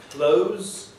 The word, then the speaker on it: clothes: So the word months and the word close are quite reasonably pronounced as white and broad, so we don't have that. So the words months and close can be pronounced in that way.